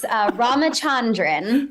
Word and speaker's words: Ramachandran: Councilmember Ramachandran. And if I don't say it right, you help me. That was very close. Ramachandran. Ramachandran, thank you.